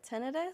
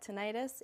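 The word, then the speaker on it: tinnitus: Some people call it tenidis, some people call it tenitis. Either way, both ways are correct.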